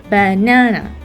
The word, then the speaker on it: banana: In the word banana, we pronounce the second syllable, na, banana, right?